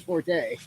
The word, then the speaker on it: forte: It's like I said forte. And he's like, it's actually pronounced fort, but everyone says forte.